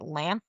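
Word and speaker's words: Lanthys: weird guy and I don't know how to pronounce his name. Was it Lan? Lanth.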